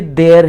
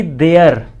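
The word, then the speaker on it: there: कुछ लोग जैसे ये देर है, ठीक है, देर पढ़ते हैं इसको देर, ना कि देयर।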